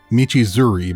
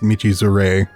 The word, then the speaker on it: Michizure: He called it Michizuri, but I'm pretty sure it's just Michizure.